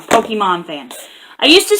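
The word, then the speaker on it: Pokémon: around Pokemon I know I said it wrong Pokemon fans I used to say pokey man all the time to drive my nutty nuts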